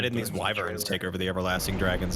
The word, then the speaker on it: Wyvern: me, wyverns, yeah.